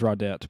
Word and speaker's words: Raudette: other so it is raudette by the way he confirmed it's also french but you pronounce the t and i thought silent